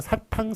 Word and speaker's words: 사탕: 읽어야 되는 게 맞는데, 그렇지만 사탕, 설탕 할 때는 탕으로 잘못 읽는 것을 맞게 했습니다. 그래서 사탕, 설탕이 맞다는 거 기억해 주시기 바랍니다.